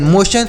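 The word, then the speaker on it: motion: एन लोशन एम ओ टी आई ओ एन मोशन तो टी आई ओ एन को शन पढ़ना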